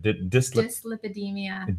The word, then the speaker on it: dyslipidemia: How do you pronounce that? Dyslipidemia.